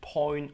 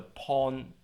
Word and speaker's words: point: Zum Beispiel das Wort Point wird Point oder Pawn ausgesprochen und auf keine Weise mit Zeichen geschrieben.